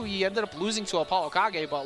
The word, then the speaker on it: ApolloKage: ApolloKage.